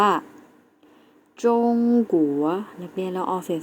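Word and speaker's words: 中国: ที่ 2 นะ คะ คือ ประเทศ จีน แล้ว จะ ออก เสียง ว่า จง กั๋ว นัก เรียน เรา ออก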